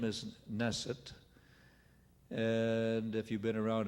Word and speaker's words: Naeseth: base so that well now my name is nasset and if you been around a bit you know my name is spelled several different ways well I suppose and